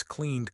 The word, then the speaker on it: cleaned: Not called, one syllable, clean. The N sound, NNNNN, vibrates, cleaned, cleaned.